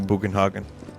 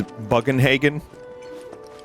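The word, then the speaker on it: Bugenhagen: know you do you boogan hogin in my mind I pronounced the name as buggenhagen in the original cuz it's just a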